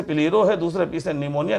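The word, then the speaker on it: pleuropneumonia: पहले वाले पी से प्लेरोम निया निमोनिया में प साइलेंट होता है लाइक ऑर्गेनिस्ट प्लेरोम निया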